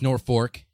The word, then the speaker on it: Norfolk: if you're non Nebraskan Norfolk is uh it's spelled nor folk but none of us Nebraskan folk y'all call it that it's North Fork and it's about two